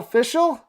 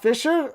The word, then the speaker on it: Fishell: Danielle Fishell, not Fisher.